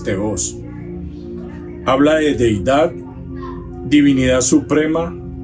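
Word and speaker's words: θεός: Muchas veces se pronuncia teos, pero en la traducción del griego sale con una rayita ahí encima de la O, que viene siendo la tilde, y es teos.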